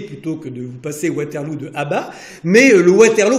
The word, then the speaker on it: Waterloo: Parce que Wellington a trouvé que Waterloo, qui se prononce Waterloo, mais ça pouvait se prononcer en anglais Waterloo, et ça faisait effectivement beaucoup plus british.